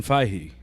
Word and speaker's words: Feige: pronounce that guy's name it's it's Kevin Fahey you say I love the way you say it because it just sounds it just sounds like the yogurt I mean yeah I